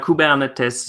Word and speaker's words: Kubernetes: shot in tradition on cabana Tessa um so kuba on the test is a way to pronounce name of this project is a Greek